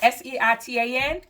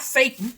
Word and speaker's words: seitan: seitan and that's spelled s-e-i-t-a-n and um it's not safe but it's seitan and first time we